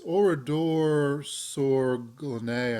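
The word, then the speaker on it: Oradour-sur-Glane: of the town but it's orador Sor Glen I believe is how you pronounce it uh and it it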